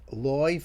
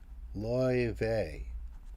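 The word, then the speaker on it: Laufey: So, I I don't know how that's supposed to be pronounced, but you're like, it's like oi, like boy.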